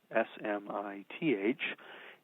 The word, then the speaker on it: Smyth: So surnames that sound the same but are spelled differently, like Smith, S-M-I-T-H, and Smith, S-M-Y-T-H, have the same code and they're filed together. And then once these Smiths are grouped together alphabetically,